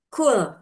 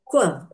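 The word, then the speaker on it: قُلْ: lidah dengan langit-langit atas kemudian tertukar dengan kaf yang berasal dari pangkal lidah agak ke depan sedikit dari qof. dengan langit-langit atas sehingga menjadi qul. Seharusnya qul dengan qo dibaca qul.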